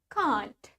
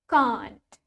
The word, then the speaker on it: can't: next we have the word can't in British English we pronounce it as Kant can't let's try it with me can't can't while in American English America we say it can't can't let's try it can't so we have Kant and can't can't can't